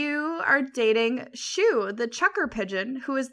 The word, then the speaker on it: Shuu: And to preface, Shu is SHUU. Okay. Not like the physical shoe. Yeah. Yeah, not like its cousin Boot. Yeah. Well, it's spelled with two Which U's instead of two O's.